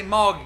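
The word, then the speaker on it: Mulga: Wilson called Moga road m-u-l-g-a is how you spell it but we say Morgan because we're a little bit backwards down there in Wellston okay better not go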